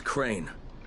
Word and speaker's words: Crane: no my name is crane okay crane rhymes with train and brain and sang and grain and rain and plane and the other kind of plane and can I come